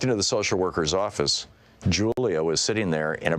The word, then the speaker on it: Julia: I began to speak to Julia, pronounced Julia, in Spanish. She seemed happy to hear her mother tongue, but her body language didn't budge.